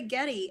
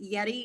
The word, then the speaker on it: Yeti: I've heard some say Getty. And so after the game, I asked him, I said, because I was like, great game, Yeti. And then I was like, am I pronouncing that correctly, Yeti? And he nodded and said yes, but I have heard people say it both ways.